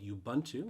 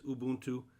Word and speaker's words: Ubuntu: i apologize that is not the correct way to pronounce it it is ubuntu it just sounds really